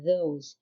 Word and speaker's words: those: يعني كنشوفوا كل هاد البروناونز they start with th plus a vowel. يعني فين ما كنشوفوا في أي كلمة th plus a vowel كتنطق ذ، يعني ذا العجمية اللي هي في اللغة العربية كيف ما كنطقوا ذهب أو ذئب. So we say this, these, that and those.